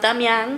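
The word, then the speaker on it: Damián: My son's name is Damian in Spanish pronounced Damyang because his dad's name it rhymes with his dad's name, you know, it's cute.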